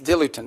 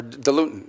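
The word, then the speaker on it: diluent: As in in fact, one of the things they need is dilutin or dilutin, depending how you want to pronounce it.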